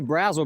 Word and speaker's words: Brazel: I say Brazel because of the razzle candy. It's like candy and then it turns into gum, so razzles, something like that.